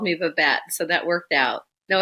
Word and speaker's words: Babette: So Babette, and I said that correctly, right?